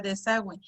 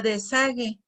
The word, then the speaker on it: desagüe: Si yo dijera desagüe, y bueno, ahorita pronunciando con diéresis sería desagüe, pero si yo no le colocara diéresis, ¿cómo diría? Diría desague, y desague pues no.